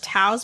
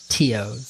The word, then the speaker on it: Teo: Is it Tao's body? Teo's. Teo.